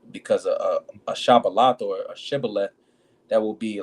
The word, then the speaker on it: Shibboleth: It says, Then say then said they unto him, Say now Shibboleth. And he said Sibboleth, for he could not frame to pronounce it right.